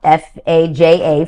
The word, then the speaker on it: faja: And it's because I'm incorporating the Colombian faja, F-A-J-A, faja, it's pronounced, and that is our version of shapewear that has existed for decades and decades.